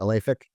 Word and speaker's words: Alefic: Is that how you pronounce it? Alefic? Prolific, yeah.